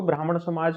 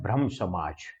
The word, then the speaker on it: ब्रह्म समाज: समाज ठीक है ना कई बार इसको ब्राह्मण समाज भी बोल सकते हैं वह प्रोनाउंस मिस्टेक है वैसे इसका ओरिजिनल नाम है ब्रम समाज भ्रम का मतलब एक